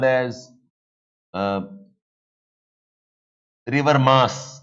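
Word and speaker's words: Meuse: River mass or river you write as musi pronounced as mass of Belgian the coal fields this is island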